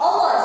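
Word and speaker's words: hour: अवर्स ऐसे बोलते हैं, जो यहाँ पर एच है वो साइलेंट है, यानी कि होर हम नहीं बोलते, हम लोग क्या बोलते हैं, अवर, यानी कि एन अवर।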